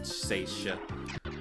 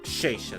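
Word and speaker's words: Shesha: We needed to have Sonic and Wendy fight freaking Seisha. Or Sheisha, that's how it's pronounced.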